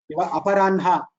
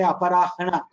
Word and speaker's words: Aparanha: Last nasal, it is, see, for Anunasika letters, Aparanha. We pronounce na first and then ha. Aparanha we pronounce. Ha, So ha. we don't say aparahana. We say aparanha.